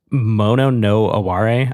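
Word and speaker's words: mono no aware: And then I also wanted to say they have a motto, the band as a motto, which is mono no Aare I believe is how you say it.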